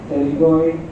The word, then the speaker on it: pterygoid: Pterygoid what you have heard, lateral pterygoid plate, pterygoid plexus of veins, pterygoid plexus. P is silent, P pterygoid plexus.